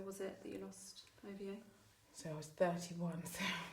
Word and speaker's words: Ovie: At the time, Ovie. Yeah. Did I pronounce it correctly?